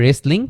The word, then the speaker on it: wrestling: ইউজ করব, আর পড়ার সময় আমরা শুধু হু উচ্চারণ করব। একইভাবে রেসলিং, WRESTLING, রেসলিং মানে হচ্ছে কুস্তি।